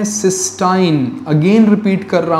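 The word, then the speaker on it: cystine: गए क्या बना दिया सिस्टाइन सी वाई एस टी आई एन E spelling पे ध्यान दीजिएगा सिस्टाइन contains disulphide bond सिस्टीन नहीं हालांकि अमानो एसिड का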